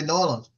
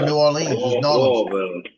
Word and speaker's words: New Orleans: on where you live if you live in norleans live in Orleans you say norleans Orleans or New Orleans just don't ask a